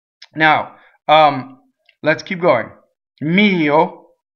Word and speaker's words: mio: now let's keep going mio so the O is a closed oh and the accent is on the E and the possessive pronoun